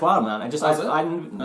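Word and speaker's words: Wildemount: No, it's pronounced Wildmount. In my head, I never had the E after the D.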